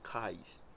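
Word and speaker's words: kai: as palavras o autônomo cais a pronúncia é cai de uma na Caedu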